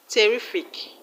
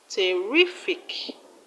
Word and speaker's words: terrific: Let's look at another word. Terrific. The second syllable from the end of the word is re. Re. Terrific.